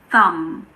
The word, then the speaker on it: thumb: So this is not a thumb, it's a thumb. Thumb. Pretend that the B isn't there.